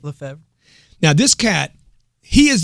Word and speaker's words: Lefebvre: I got a guy here today with me, Val Le Favor. How do you say it? You got it. Is it right? Le Favor.